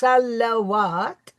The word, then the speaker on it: salawat: What we said was that the word should be pronounced salawat because it is the plural.